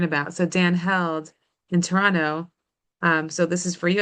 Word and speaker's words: Toronto: I'm really impressed, Latara, that you dropped the second T in Toronto. So like there's clearly so you know exactly how we pronounce Thank it here, you. not Toronto, but Toronto.